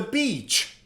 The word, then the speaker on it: beach: Now, next to the sea, we have the beach, right? Beach. Pay attention to the pronunciation. Beach. Beach has a long vowel.